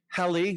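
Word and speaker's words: Halley: Um comet Hi rhymes with Sally.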